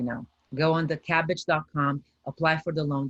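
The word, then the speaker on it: Kabbage: takes pvp applications that's cabbage calm okay so um I um II can you put that in the link there it's cabbage that's spelled k a BB a GE com cabbage with the K cabbage calm this is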